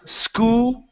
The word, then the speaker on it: school: oh there you go so it's school it's two sounds school school school school school